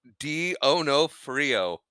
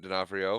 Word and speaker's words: D'Onofrio: Anyway, next up on our list of starring actors, according to the Wikipedia, is Vincent D'Onofrio.